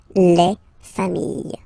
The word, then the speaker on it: familles: Just add this final S and you get the plural form, les familles, okay? Remember, chien, singular form, chien, same pronunciation, but you put this S, okay? Final S, not pronounced.